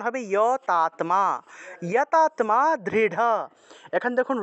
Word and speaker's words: দৃঢ়: তাহলে দৃঢ় আছে, এখানে দৃঢ় থাকলে আমরা উচ্চারণ করব দৃঢ়, দৃঢ়, ঢ উচ্চারণ করব।